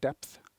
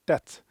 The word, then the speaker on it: debt: used to say technical depth and then it sounds like I'm saying depth so then my colleague kindly said you need to pronounce it debt so now I say